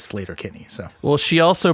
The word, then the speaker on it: Sleater-Kinney: If you hear Carrie Brownstein say it, she says Slater Kenny.